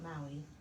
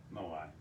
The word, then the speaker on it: Moai: It's not Maui, Moai.